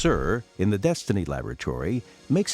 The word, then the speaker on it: CIR: The Combustion Integrated Rack, or CIR (pronounced sir), in the Destiny laboratory